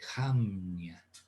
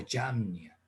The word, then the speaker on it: Yamnia: Ahí en la Franja de Gaza, hay una ciudad costera con el nombre de Jamnia o Yamnia. Se pronuncia Yamni, pero unos escriben Jamni y otros con J, otros con Y.